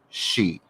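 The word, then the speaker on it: sidhe: what we call this she s-i-d-h-e uh in the uh celtic form it's always spelled s-i-d-h-e but it's pronounced she because that's celtic don't ask me i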